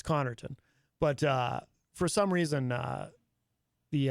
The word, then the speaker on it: Connarton: in a way because the first syllable ends in a double consonant, C-O-N-N, which usually indicates that is where the emphasis would go. Connarton, not Connarton.